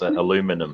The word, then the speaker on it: aluminum: for the American audiences okay it's aluminum no I like I like the other one it's it's aluminium um you know there's